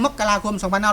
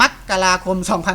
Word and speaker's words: มกราคม: แย้ง แบบ นี้ ครับ จริง ๆ แล้ว อ่าน ได้ 2 แบบ ครับ จะ อ่าน มา มกราคม หรือ มกราคม ก็ ได้ ครับ มกราคม ก็ ได้